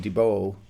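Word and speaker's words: DeBolt: the duo fraser and dibo which is spelled like de bolt but i'm told is pronounced dubo and uh as i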